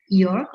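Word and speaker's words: Jörg: to meet you uh york i'm sorry if i cannot pronounce your name correctly it should be york or no it's perfect you have the perfect german pronunciation okay yeah and i'm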